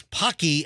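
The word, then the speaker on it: Paqui: So after we did the story yesterday about kids getting hospitalized by eating these Pocky, am I saying it right?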